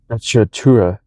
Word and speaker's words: sprezzatura: Much of the idea of Sacchatura, that's how you say it, came from the world of art.